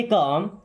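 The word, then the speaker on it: calm: Stay काम। Stay मी्स होता है रहना। काम। देखिए एल साइलेंट है ना? काम मतलब शांत। कॉलम नहीं पढ़ना।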